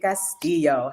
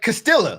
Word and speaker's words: Castillo: pronounced your name Caso she pronounced it perfectly like Perfection man you got that Double L she got that EO real real well like I call him like Castilla like you I call